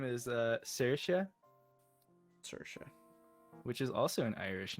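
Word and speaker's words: Saoirse: Um and the girl's name is uh Cersea. which is also an Irish name. How do you spell that?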